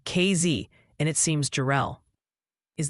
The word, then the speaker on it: Casey: Casey, Illinois is apparently KZ and it seems Jerel is the winning pronunciation for Jerel, Texas.